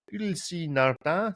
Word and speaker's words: Ulysse Nardin: This is the Ulysse Nardin. See, I pronounced it correctly there.